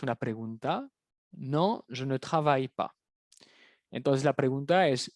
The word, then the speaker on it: travailles: Travaille. La ES no suena, pero acuérdense de la terminación ES, como en español trabajas.